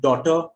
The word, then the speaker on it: daughter: There again the G is silent. For example, words like daughter, night, thought, through.